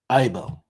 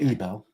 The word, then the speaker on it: Eibel: I know how to say this now. Peter Eibel. Yes, not Ebel.